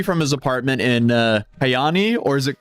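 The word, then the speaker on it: Kajaani: The first would be from his apartment in, uh, Kayani or is it Kajani? Kayani.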